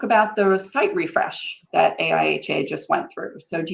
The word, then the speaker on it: AIHA: industrial hygiene association or a-ha welcome Ben I thanks it's actually a iha we don't try to for that pronounce it it's just a little too weird all right no worries